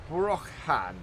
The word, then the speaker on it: Brochan: The other thing is, I believe this trailer is pronounced Brochan, as in almost as in broken, but Brochan, which I've been mispronouncing quite a bit for quite a while.